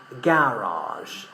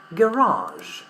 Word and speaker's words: garage: In British English we pronounce the word with the stress in the first syllable. Garage. Garage. But in American English, we pronounce the stress in the second syllable.